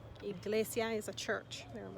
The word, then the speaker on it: iglesia: with i in spanish the sound is as in iglesia iglesia iglesia is a church there